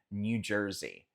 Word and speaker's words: New Jersey: Cruzando a ponte, saindo da ilha, temos o estado de New Jersey, New Jersey, New Jersey. Nota que esse EY no final a gente faz Z, New Jersey, New Jersey.